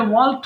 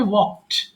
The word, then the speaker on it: walked: এটা ওয়াল্কড হবে না, উচ্চারণ হবে ওয়াকড। ওয়াকড।